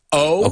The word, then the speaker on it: owe: O is the verb. Now let's explain. O-W-E. There are 2 words here. Como la letra O is the verb deber. O-W-E se pronuncia como la letra O.